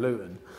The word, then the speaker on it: Luton: a different accent and I pronounced more T's instead of saying Luton if I done certain